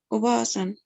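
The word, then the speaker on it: おばあさん: Atención, doble A aquí. Oba-san.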